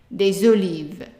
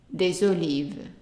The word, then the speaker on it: olives: starts with a vowel, then that S is pronounced as a Z. We still pronounce des, but the S is pronounced as a Z. So des hôtels.